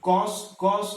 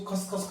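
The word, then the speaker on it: cos: Okay, तो कॉस कॉस, कुछ बच्चे इसको खस खस खस खस बोलते, खस खस नहीं है ये, this is not, this is कॉस कॉस।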